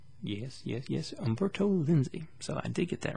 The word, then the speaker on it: Umberto Lenzi: this is liberto a lindsay i believe i pronounced that right yes yes yes umberto lenzi so I did get that right some guy